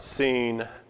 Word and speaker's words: Sin: okay uh one of which is the god seen spelled s i n but pronounced s n in English uh from which